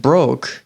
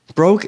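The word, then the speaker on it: Brokk: When a dwarf named Broke greets them, I don't know if I'm saying that right, but it's spelled B-R-O-K-K, Requiem says that they need a weapon forged, as well as some armor.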